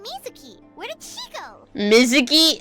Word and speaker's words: Mizuki: Mizuki is Mizuki. Oh my gosh. Mizuki. I guess the U is silent, but still.